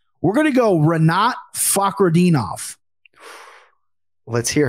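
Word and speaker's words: Fakhretdinov: But you did nail Fakhradinov, and I did have to play that file for my daughter today because he really hits that Fak, right?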